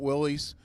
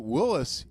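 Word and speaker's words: Willys: fun of me because I call it Willis not Willies one of the nation's foremost experts on Willis gassers taught me that the Willis is the correct pronunciation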